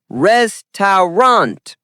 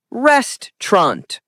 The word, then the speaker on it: restaurant: Wrong is restant. Correct is restaurant or restaurant. Example, we're going to a new restaurant tonight. Native speakers say it quickly. Restaurant.